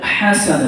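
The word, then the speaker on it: حسنة: Rabbana atina fid dunya hasanah dengan ha. Tidak ada satu pun yang panjang hasanah, bukan. Hasanah tak masuk dia.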